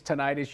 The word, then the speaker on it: tinnitus: And people are saying, what's tinnitus? It's tinnitus. You can pronounce it that way. It's also pronounced tinnitus.